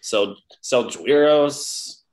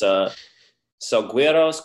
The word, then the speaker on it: Selgowiros: I've gotten Selgowiros. Where does the soft G come in? No, it's Selgowiros, Carantos, Kaitakos.